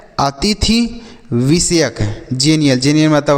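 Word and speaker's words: xenial: इसे हम क्या पढ़ेंगे जेनियल पढ़ेंगे क्या पढ़ेंगे जेनियल एक्स का उच्चारण ज के रूप में करेंगे तो तो एक्स से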